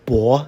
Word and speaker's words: 薄: On your right, it can be pronounced 薄, second tone, or 薄, fourth tone, depending upon the meaning.